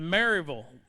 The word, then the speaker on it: Maryville: Our 8th place finisher out of Maryville.